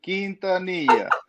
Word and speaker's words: Quintanilla: Juan Quintanilla. Hey, Juan, what's up, guy? Did I pronounce it correct or what? You said it better the first time, Jim. Quintanilla. Quintanilla.